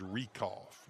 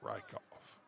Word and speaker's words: Rekoff: It is Rekoff, not Rykoff.